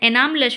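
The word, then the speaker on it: anomalous: देखिए इसमें कभी-कभी लोग केवल यू एस कर देते हैं या एन ए कर देते हैं क्योंकि इसका प्रोनाउंसिएशन एनामलस होता है।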